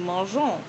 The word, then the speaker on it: mangeons: For example, instead of nous mangons, it is nous mangeons. Without the E, the sound is a hard G like G in gold, rather than the soft G like the G in Georgia.